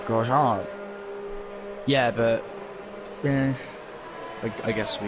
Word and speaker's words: Grosjean: Like the Americans over there, they call him Roman Grosjean. Grosjean. Grosjean. It's French, it's Grosjean.